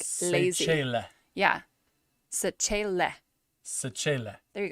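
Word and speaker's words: Sechele: Che, like change, Che. and then le, like let. So the end has to be like lazy. Sechela.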